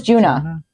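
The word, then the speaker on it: Djuna: and I don't remember how they were pronouncing it. Jun Juna or Juna? It was Juna.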